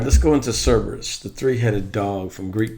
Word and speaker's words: Cerberus: like learning s burus stress on the first syllable both British and American pronunciations so let's go into